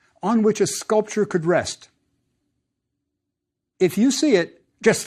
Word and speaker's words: Re: I bet you've heard it pronounced Ra. That's fine too. Remember, we aren't sure about the vowels.